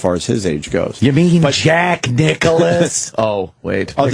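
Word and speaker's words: Nicklaus: right say it right not Nicholson it's Jack Nicholas dude that whole texting thing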